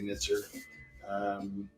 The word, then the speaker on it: Nitzer Ebb: Some people pronounce it. I say Nitzer.